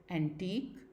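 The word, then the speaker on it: antique: Next, when the QUE spelling at the end of the word, it is pronounced as only a क sound. और जब किसी भी word के आखिर में QUE आता है तो उसको भी प्रोनाउंस किया जाता है क की तरह, एज इन एंटीक एंड यूनिक.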